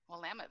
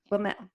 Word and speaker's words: Willamette: Did I say that right? Willamette Valley. Willamette, yeah. And it's never pronounced how it's supposed to be.